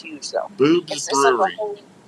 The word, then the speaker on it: Bubes: It's BUBES, Boob's Brewery. Okay, I didn't want to mispronounce it.